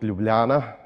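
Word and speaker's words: Ljubljana: you start making jokes try to say and pronounce correctly my hometown which is called lublana so the one that succeeds this can make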